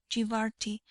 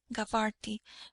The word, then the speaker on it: Gabarti: His family had been settled in Egypt for seven generations, and had taken the name Gibarti, or as it is pronounced in Egypt, Gabarti, from their first home, Gibart being one of the names by which Zeila is still known.